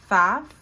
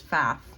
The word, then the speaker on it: Pfaff: I think it's Pfaff, how you pronounce her name, but it starts with a P.